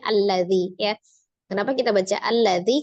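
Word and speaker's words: الذي: huruf keduanya adalah lam maka alifnya berharakat fathah a berarti kita bacanya alladzi Ya kenapa kita baca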